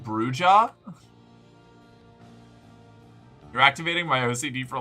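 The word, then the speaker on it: Brujah: Um, actually, it's pronounced Bruja. You're activating my OCD for language though. It's No, it's lit. No. Katana. Katana. Katana. Don't do this to me. I pronounced it bruha initially.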